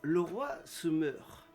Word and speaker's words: Leroy se meurt: Et donc, on est avec le groupe Le Roi se meurt. Ça se prononce comme ça, non?